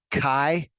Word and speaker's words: chi: that Chi is pronounced Chi rhymes with pi with a silent h the chi-square distribution to